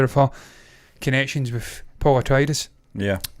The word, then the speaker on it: Atreides: I wasn't aware of her connections with Paul Atreides. Yeah. Atreides, because I get that wrong as well.